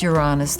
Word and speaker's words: Uranus: or uranus and so they call it uranus i call it uranus because i've been an astrologer for over 50 years and that's what i learned that's how i learned to pronounce it but if you pronounce it you're honest that's perfectly good perfectly fine okay back to aquarius